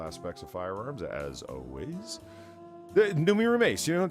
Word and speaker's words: Noomi: Yeah, I mean the Numi part is fine. That's like Zoomy, but with an N.